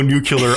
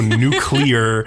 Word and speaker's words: nuclear: can go I'm saying George Bush will go new killer I won't go nuclear which is how you say the word I'll get to that